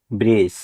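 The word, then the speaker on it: bridge: তাই এখানেও D letter silent থাকবে। বি আর আই ডি জি ই ব্রিজ মানে সেতু এই ওয়ার্ডটিতে ডি এর পরে জি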